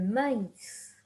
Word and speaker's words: maïs: But if you have the two dots, that means that you need to separate those letters when you are pronouncing them.